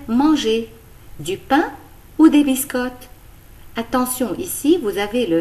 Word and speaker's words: biscottes: Et dans le mot biscotte, on ne prononce ni le E ni le S.